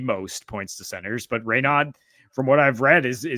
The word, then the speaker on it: Raynaud: "Hey, nice pronunciation, bud," but it's Raynaud, Raynaud for all y'all out here in America.